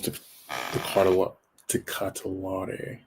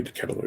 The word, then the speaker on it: De Ketelaere: Next we have Charles de Catalare. De Ketelaere? I think maybe De Ketelaere is a better. De Ketelaere is a better. I think it's actual pronunciation.